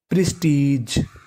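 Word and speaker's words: prestige: और आपको याद रखना है कि अगर आपको इंग्लिश की किसी भी मीनिंग के आखिरी में ई लिखा मिले तो हमें इ का उच्चारण नहीं करना। हमें खाली जी का उच्चारण करना है। तो मीनिंग बन गई प्रिस्टीज।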